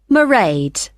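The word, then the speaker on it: Mairead: do you spell that it's m a i r e a d merade okay got that it's not a name I'm familiar with it's an Irish name she comes from Dublin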